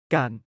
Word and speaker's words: การ: 태국어에도 이와 비슷한 마법이 있는데 바로 깐 입니다.이 작은 두 글자 단어가 태국어에서 정교한 생각을 표현하는 열쇠를 주고 있습니다. 함께 알아볼까요? 깐 에힘 깐은 중간 음조와 긴 모음으로 발음됩니다. 가안이라고 말하되 짧게 끊는 느낌입니다.이 마법 같은 접도사를 동사 앞에 붙이면 놀라운 일이 일어납니다.